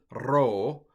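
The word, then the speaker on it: rho: Ro should be a little bit trilled. Ro.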